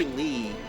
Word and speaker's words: Ly: is Lee the fairy it's spelled with a Y but they say Lee except in the Japanese version for some reason I